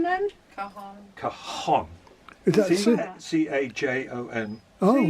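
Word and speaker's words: cajón: pronounced as an H, like.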